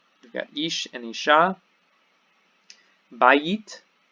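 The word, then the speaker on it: בית: Bayit, bayit is house or temple, and the accent is here. Bayit, bayit on the first syllable.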